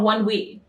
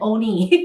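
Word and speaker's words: ONEWE: How do you even pronounce them? One Us. And then there's another group which is connected to them called One We. Here's the thing. I would have pronounced it as Onus and Oni.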